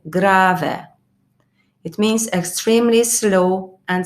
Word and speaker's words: grave: if i say grave this pronunciation are not the same than the english because it's italian so i say grave it means extremely slow